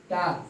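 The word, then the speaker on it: talk: Half, half, टाक, टाक, इसको हम टाल्क नहीं बोलेंगे, कुछ बच्चे ऐसे बोलते हैं, टाल्क बोलते हैं, तो वह गलत है।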